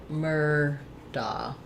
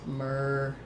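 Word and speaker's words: Murdaugh: are, it would be Murdoch. But in the specific case of the Murdoch mysteries, that family, Alec Murdoch, says it his family says Murdoch, like the word doc.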